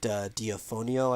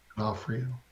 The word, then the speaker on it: D'Onofrio: It's Vincent D'Onofrio, I believe. D'Onofrio.